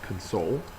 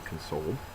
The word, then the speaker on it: console: So that person is crying, they would need to be consoled. The noun uh form of it pronunciation is console. So you put the accent mark on the first syllable instead of the second.